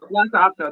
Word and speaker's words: Lhasa Apso: Lhasa Apso, that's it.